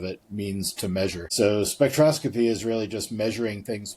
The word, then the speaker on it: spectroscopy: technology to Apple with your expertise in spec spectraphy, is that how you say it? Spectroscopy.